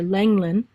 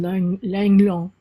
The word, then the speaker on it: Lenglen: And this one of the tennis great Suzanne, we pronounce it here Lenglen, but if you ever watch the French Open,